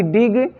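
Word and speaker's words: dig: तो वहाँ पर हम जी का प्रोनाउंसिएशन जो है ज के रूप में नहीं करते हैं, ग के रूप में करते हैं।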